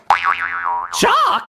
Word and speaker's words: chalk: on the wall chalk is another sneaky word where the L is silent it sure is if